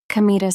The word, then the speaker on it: Kamita: It's written with the characters for God, Kami, and field. God's field. But it isn't pronounced as you might expect. It's pronounced kamita.